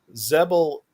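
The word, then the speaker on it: Xebel: series you meet his mother who's a zebelian zebel um and that's spelled x-e-b-e-l is a sub-sect of of of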